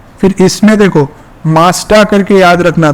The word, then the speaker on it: Mazda: फिर इसमें देखो मास्टा करके याद रखना था इसको सीक्वेंस, मैंगो वाला। मास्टा एक कार है, पता होगा मास्टा, उसमें जी